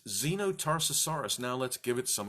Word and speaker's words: Xenotarsosaurus: and for sharing the Zeno Tarsus horas written by mr. Mike so here it is a dinosaur that starts with letter X of course you should pronounce it like a Z it's so complex there